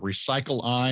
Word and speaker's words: Recycleye: de wolfe he's the co-founder and ceo of recycle i and you can find out more at recycle